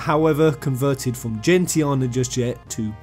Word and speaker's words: Gentiana: I'm not, however, converted from Gentiana just yet to Gentiana.